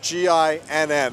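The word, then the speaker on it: GINN: Now, GIN is spelled G-I-N-N and pronounced GIN.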